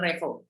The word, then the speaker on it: Revo: Kalau saya dipanggil Revi, saya nggak mau juga. Dipanggil Reva, saya juga nggak mau. Revo. Nama saya Revo, ya harusnya dipanggil Revo.